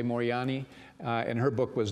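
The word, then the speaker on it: Moorjani: I'm pronouncing her name some say Mori johani but I'm going to say morani uh and her book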